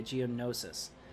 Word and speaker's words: Geonosis: Nisa says that we said Geonosis yeah ok Geonosis perfect thank you sorry about that you're not